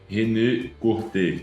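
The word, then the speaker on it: René Courtet: O João que fala francês aqui, como pronuncia o nome de forma escorreta aqui do nosso caro René Corté? René Corté.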